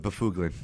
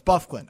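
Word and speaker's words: Byfuglien: hate it that's why my friend calls it buug actually thought that that's how you name that's how you pronounce it no it's buffin Oh I thought when I I had a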